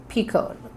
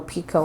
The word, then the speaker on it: picot: space to create my picot, however you want to say it. I think it's a French word. I think it's picot. The T is silent.